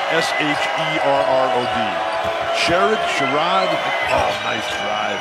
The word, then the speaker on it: Sherrod: How do you pronounce S-H-E-R-R-O-D?